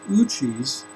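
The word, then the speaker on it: Ouchi: It's called Uchi's Theory Z.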